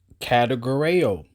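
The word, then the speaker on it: κατηγορέω: Categoreo. That's how you say it. What that sound like, a category.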